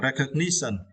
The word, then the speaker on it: recognition: In noun form, it is recognition. Yeah, and for this word, you need to stress the third syllable, right? Ni, okay. Recognition, okay, recognition.